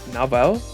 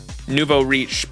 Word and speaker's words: nouveau riche: kind of how do you say that not nabo Nouveau nouveau nouveau riche Nuvo Reach people who have recently acquired wealth nuvarish I